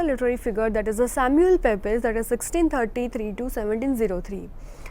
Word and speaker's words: Pepys: So now talking about another literary figure, that is Samuel Pepys, that is 1633 to 1703. Samuel Pepys, it normally pronounced the Pepys, was the son of a London tailor.